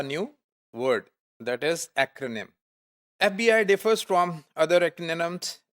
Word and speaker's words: FBI: word that is acronym FBI differs from other retina noms in this list because it's pronounced letter by letter we cannot say fee berry we say f-b-i so